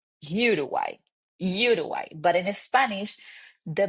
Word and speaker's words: Uruguay: So that's why we don't say Uruguay, Uruguay. In Spanish, we say Uruguay, Uruguay.